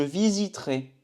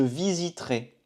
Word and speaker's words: visiterai: C'est comme pour le verbe acheter, pour visiterai, on ne prononce pas ce E. Je visiterai. Je visiterai.